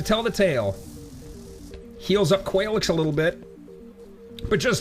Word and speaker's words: Qualaix: It's not Qualaix anymore. It's Qualaix, is how we're going to pronounce it.